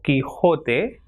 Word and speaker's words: Quijote: QUE is K, so examples with these pronunciations are quema, quebrar or quedar. Same way, QUI is ki, examples químico or Quijote or equipo.